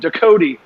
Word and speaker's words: Ducote: We here in Cajun French Louisiana kind of changed the pronunciation of the name. It's a hard E on the end, Ducote.